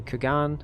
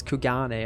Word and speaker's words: Kugane: during our stay in kagan it's it's kugane apparently um i was watching a another youtuber excuse me hiccups uh yeah and that's how they seem to pronounce it so i will probably do the same kugane business favors the